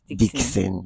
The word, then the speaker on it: Dxn: Okay, the pronunciation of Dixon is the pronunciation of Dxn is Dixon.